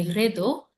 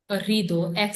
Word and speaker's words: rideaux: Il y a aussi des rideaux. Rideau means curtains. Rideau. Ri है दो. E-A-U, O का sound आएगा. Rideau. X is silent.